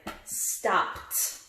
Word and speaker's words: stopped: You probably already got it. Stopped. It's stopped. No T, but it sounds like it.